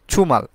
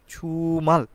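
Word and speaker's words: 주말: প্রশ্নতে দেখতে পাচ্ছি আমাদের ছুমাল ছুমাল মানে হচ্ছে সাপ্তাহিক ছুটি বা সাপ্তাহিক প্রান্ত আমরা বলতে থাকি অর্থাৎ কোরিয়ান ভাষাকে এটাকে বলা হয় ছুমাল জিওতে এবং সিওতের মাঝামাঝি স্থান রেখে উচ্চারণ করা হয়ে থাকে অনেকে বলেন জুমাল আবার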